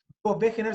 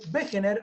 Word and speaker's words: Wegener: Wegener se escribe Wegener con W porque en alemán la W se dice como B corta. Alfred Wegener va a proponer en 1924 la teoría.